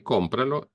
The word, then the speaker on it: cómpralo: So the command, in this case, well, notice first that the stress tone goes on the O, compra, and when we say cómpralo, it's still on the O.